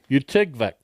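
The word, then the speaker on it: Utqiagvik: How do you spell it? UTQIAG with an accent over it. Utigwa. VIK. Utigvik.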